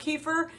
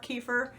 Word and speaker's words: kefir: benefits than your water kefir I know I'm pronouncing it wrong it's kefir but whatever I said I always say kefir because that's what that's what's just kind of ingrained in my brain anyway it does have